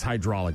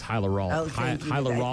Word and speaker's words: hyaluronic: I'm just reading hydraulic acid into penises and then that's all I was I don't think it's hydraulic. It's hyaluronic.